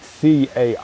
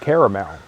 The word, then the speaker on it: caramel: I know some people say caramel. Caramel. No, I'd always say caramel. Caramel's topping, caramel. Yeah. That's another one. In my head, maybe because I've heard it, caramel, so many times that I keep thinking I've said it, but I would typically say caramel.